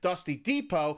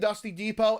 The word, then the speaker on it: Dusty Depot: for the block and dusty Depot which dust rhymes with boss and this was the area that went boom after season four they are landing and dusty Depot and then visiting the